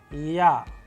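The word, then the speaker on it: Я: interesting letter known as Ya, a vowel. And how do we pronounce it? With the help of English approximation word as in yarn, and with the help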